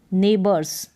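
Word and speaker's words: neighbours: की जा सकती है एन के बाद में ए आई जी एच ए का साउंड लेकर इसको याद कर ले और फिर है बर्ड्स ओ यू अ करके उच्चारण हो रहा है आर एस रस नेबर्स इस तरीके से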